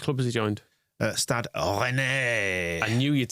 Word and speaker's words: Rennais: Anyone of a certain age who grew up watching Hello knows it should be pronounced Rennais.